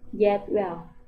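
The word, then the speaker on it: cetvel: Ya, huruf ini jika dalam bahasa Indonesia kita pasti sebut ini huruf C. Tapi kalau dalam bahasa Turki ini dinamakan J. Jadi pengucapannya J. Seperti J dalam bahasa Indonesia. Dalam kata jangan atau jumlah.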